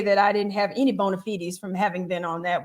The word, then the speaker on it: bona fides: I never knew the proper way to pronounce that word. And you said bona fides.